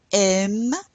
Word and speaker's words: aiment: Les étudiants aiment travailler. We didn't pronounce that ENT.